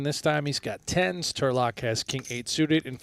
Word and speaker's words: Turlock: time he's got tens Turlock has king8 suited and for the chat wondering why we're saying Turlock well that's how you say his name we learned on break and turock has a hand